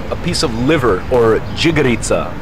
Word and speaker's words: džigerica: I've got over here a piece of liver, or džigerica. Kako se kaže? Džigerica. Yeah, good, I said it right.